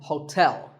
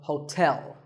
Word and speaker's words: hotel: interesting number 12 is Hotel there are two syllables ho and tell like the English word tell as in tell me the stress is on the second syllable so Hotel a related word is